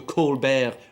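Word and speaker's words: Colbert: Now, despite the sort of French sounding name and he pronounces his show on Comedy Central as the Colbear repor, he has no link at all to France whatsoever.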